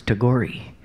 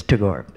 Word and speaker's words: Tagore: little tribute to Tagore I actually used to pronounce his name wrong I thought it was too gory and Ashok bhargava said to me no no no it's Tagore and let's listen home really